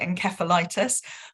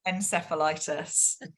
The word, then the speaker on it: encephalitis: So in the UK, we like to be different. So we call it encephalitis, but in North America, It's encephalitis.